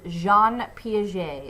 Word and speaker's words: Jean Piaget: Cognitive development, and the guy we will talk about here is Jean Piaget, is how you say this name.